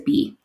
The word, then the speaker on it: Bea: Her name actually is Bee, even though it's spelled Bea.